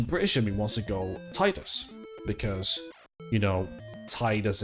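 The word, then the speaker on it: Tidus: So the question is Deffy what sideed pronunciation you are? Is it Titus or Titus?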